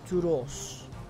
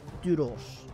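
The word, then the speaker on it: Τύρος: So basically, you basically go tu because the upsilon is like this u sound, tu, rho, sh, yeah. Turos would be how it would have been pronounced. Turos. And that's how they probably would have pronounced what we call Tyre.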